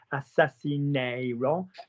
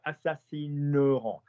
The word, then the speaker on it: assassineront: Yeah, you change the pronunciation of it. You don't say assassineront. You say Aaron is a handsome boy in the white there. So we've got assassineront.